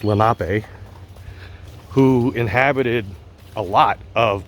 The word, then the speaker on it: Lenape: I believe they're pronounced Lenape, who inhabited a lot of Pennsylvania, but especially around bodies of water.